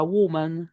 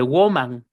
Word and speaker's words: woman: Y no se dice woman, se dice woman con U.